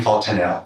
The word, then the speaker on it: fontanelle: Also noted in those records was a bulging fontanelle, is that how it's pronounced? Yes, bulging fontanelle.